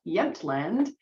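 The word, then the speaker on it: Jämtland: So they collected this particular specimen in August of 1912 and it is pronounced Yentland which is a historical province of Sweden which you can see right here.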